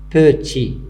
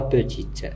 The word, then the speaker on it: petit: Petit, c'est pas petite, petit, il se termine par T, mais on n'entend pas dans la prononciation.